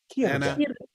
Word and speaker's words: Círdan: When you have a consonant C and it is immediately followed by a vowel, like Celeborn, right? Just like Celeborn, then it's a hard C sound, not an S.